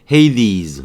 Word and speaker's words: Hades: 중어하고 같은 건 아니지만 뭐 Hades 이렇게 발음하는 거고요.